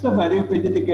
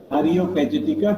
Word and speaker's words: Areopagitica: Areopagitica is available.